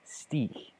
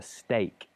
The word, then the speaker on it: steak: example steak and steak very typical mispronunciation to say Steve but it's a steak ache remember EA there are